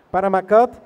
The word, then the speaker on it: Panama Cut: Y bueno, para empezar, el día de hoy la entrevista, estamos con Panama Cut, ¿sí se pronuncia así? Ok, Panama Cut, y los integrantes son… toco el bajo.